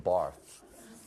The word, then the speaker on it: Barthes: Barth. The S is silent.